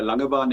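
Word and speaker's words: Langebaan: Yes, very good pronunciation there Ashman. Um, it's a Langaban indeed.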